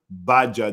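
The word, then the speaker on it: Bajaa: Baja, the G is silent.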